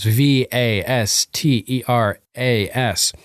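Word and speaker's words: Västerås: my hometown in Sweden you pronounce it almost exactly like Westeros VA ste ras it's an honor to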